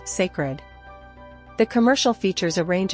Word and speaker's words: Cécred: a trailer for her new hair Caroline secer pronounced sacred the commercial features a range of hairstyles and